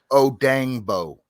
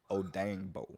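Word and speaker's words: Odeyingbo: his name i i i would say the last name how you said oh dang bo oh dang bo yes but there is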